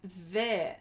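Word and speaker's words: vert: Heidi says, pronounced ver, silent T, ver.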